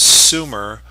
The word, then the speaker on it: Sumer: of Mesopotamia here uh that we call Sumer, pronounced Sumer, uh the southern end of the Tigris and Euphrates River valleys.